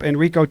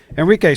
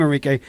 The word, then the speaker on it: Enrique: We have the leader of the Proud Boys and the Florida State Director of Latinos for Trump, Enrio Tario. Enrique, sorry, I mispronounced your name, Enrique.